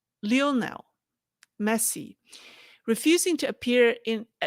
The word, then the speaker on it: Lionel: So you might have already heard the incident of let me pronounce his name right. It's not Lionel, it's Lionel. Lionel Messi refusing to appear in a Hong Kong